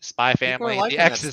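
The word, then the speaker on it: SPY×FAMILY: got some more family spy family the x is silent is it really yeah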